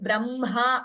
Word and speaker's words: ब्रह्मा: So whenever words like Brahma are pronounced, it seems the nada, it should be pronounced from the chest, uraha. So Brahma, that has to be pronounced correctly. Please don't say Brahma, Brahma.